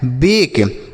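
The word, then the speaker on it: bake: Last में जो ई है इसका उच्चारण नहीं किया जाता है, लिखा गया है बेक।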